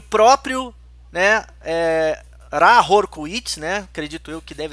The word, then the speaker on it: Ra Hoor Khuit: agraciada com a presença do Senhor do Eon, Hahor Kuit. Opa! E o próprio, né, Rahor Kuit, né? Acredito eu que deve ser uma pronúncia mais Tomara legal.